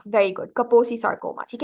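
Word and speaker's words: Kaposi sarcoma: it right now it starts with a केको कपोसी सार्कोमा very good कपोसी सार्कोमा ठीक है make sir your pronounce it correctly ठीक है अच्छा कोल्ड कौन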